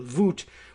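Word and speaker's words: Wut: the show saying that the German pronunciation of Wu T would be vot or something like it V uh vot you know W's being v's and vowels being pronounced as they are in European language so voot which is a more or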